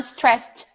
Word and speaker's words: stressed: out I'm stressed tonight you don't hear there is no TT I'm stressed tonight no I'm stressed tonight the tea from stressed and the tea from tonight become one sound and it's okay I'm stressed tonight I